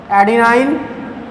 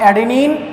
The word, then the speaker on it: adenine: इन the case of purine there was एडिनाइन एंड ग्वानाइन. इसको आप एडेनिन और ग्वानिन भी प्रोनाउंस कर सकते हो.